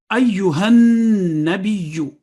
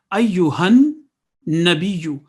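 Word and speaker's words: أيها النبي: Ayyuhan nabiyyu. There are three mushaddad letters in it. Ayyuhan nabiyyu.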